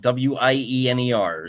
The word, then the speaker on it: Wiener: It's like Wiener, like a hot dog, Wiener.